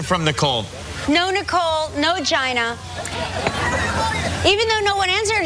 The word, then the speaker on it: Gina: ringing hello you reached Gina it is pronounced Gina it's pronounced Gina Gina not yeah all right Gina